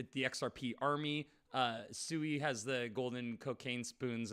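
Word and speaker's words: Sui: Suey has the golden cocaine spoons and people that pronounce it sway. So I think some Swear.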